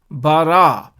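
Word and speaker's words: ברא: therefore the total word we pronounce it as bara next is aleph this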